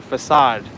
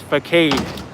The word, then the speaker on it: facade: for facade thank you when I was younger I didn't know how to pronounce that word I said it was for Kade that's one of those tricky in English words you really need to know otherwise you're going to say is first aid can we even walk